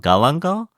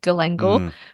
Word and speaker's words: galangal: and what's it called galangal y that's what we call here Gango yeah Gango I think I I don't pronounce it like the Southeast Asian way I pronounce it the Aussie way Gango but my Indonesian friend